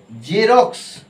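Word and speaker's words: Xerox: কি বলি এটা এটা সাধারণত কি বলি না জেরক্স এটা বলি তো জেরক্স বলি দেখো জেরক্স বরকেন্দ্র উচ্চারণ হচ্ছে রক্স রক্স রক্স কস রক্স কস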